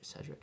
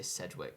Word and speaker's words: Cedric: grew with Cedric yeah CED Cedric I said it right yeah I have to remember not to say Sedwick because that was another